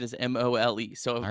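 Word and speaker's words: Moll: pretty sure it's Maul it's mole m-o-l-e is how it's pronounced I know that one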